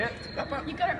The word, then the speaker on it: Te Papa: Te Papa.